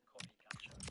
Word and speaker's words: Qorikancha: If you look at it's spelled with a Q, Qorikancha, Korikancha.